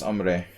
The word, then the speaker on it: hombre: mexican immigrants and stuff i know it's ombre but it's been a